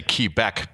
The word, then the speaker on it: Quebec: were in canada montreal quebec i have to say key back because that's the way